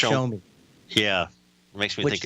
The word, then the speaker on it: Xiaomi: or not a Z, it's an X IOME. I think it's the way it's spelled, but it's pronounced Xiaomi.